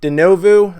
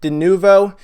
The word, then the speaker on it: Denuvo: we we've talked about denovo I'm sorry I have a hard time pronouncing that denuvo uh we we just